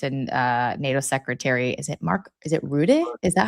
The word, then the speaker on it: Rutte: I used to say root, and then I've heard everyone's like Rutte.